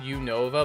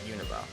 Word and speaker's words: Unova: means I think so it's called Unova but when you say it quickly sounds like univa I don't know I